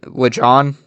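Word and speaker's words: Lajon: LeJohn.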